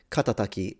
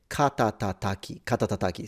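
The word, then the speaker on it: 肩たたき: The one at the bottom, katataki, you could absolutely... Katatataki, sorry, I forgot the ta.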